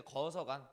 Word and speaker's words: 거서간: 칸을 한자식으로 발음하면 간이에요. 그래서 이제 거서간 부족장이라는 뜻이고요.